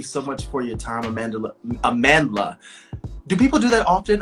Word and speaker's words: Amandla: Amandla is how you pronounce it correctly, with the South African pronunciation, and then Amandla is my Americanized pronunciation.